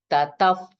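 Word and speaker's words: ततः: So how we will recite this visarga? Tataf. Okay, if sound you have to pronounce while reciting.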